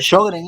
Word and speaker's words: Sjögren: Sjögren es, doctor. Sjögren. Sjögren. Gracias, doctor, por el aporte.